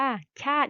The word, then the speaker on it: ชาติ: สัญลักษณ์ ที่ สำคัญ ของ ชาติ ไทย ตรง นี้ นะ กิน จำ ดี ๆ นะ คะ ชาติ อ่าน ว่า ชาติ อย่าง นี้ ไม่ อ่าน ว่า ชา ติ นะ คะ อ่าน ว่า ชาติ ไทย อาหาร ตาม อีก รอบ